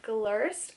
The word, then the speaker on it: Glirst: it's wrong i apologize but i believe it's pronounced glirst when they reached out to me i was